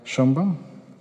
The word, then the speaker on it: Sheinbaum: Claudia Sheinbaum. I'm pronouncing wrong your last name, right?